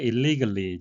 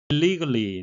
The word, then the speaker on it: illegally: Many of them were there illegally, 직역을 하게 되면 불법으로 거기에 있습니다가 되겠고요. 의역을 하게 되면 불법 체류 중이라고 할 수 있겠습니다. illegally 내용적으로는 불법적으로 체류하고 있다라는 내용이 되겠는데요. 발음적으로는 legally와 거의 구별이 되지 않습니다.